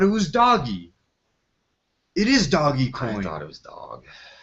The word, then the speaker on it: Dogecoin: this before yeah uh Dogecoin must be pronounced doggy coin not Dogecoin it was doggy coin